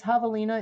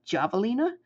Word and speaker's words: javelina: Yeah, if you ever want to look it up, it's javelina. It's said like you say it like an H, but it is spelled with a J, like javelin, like javelina.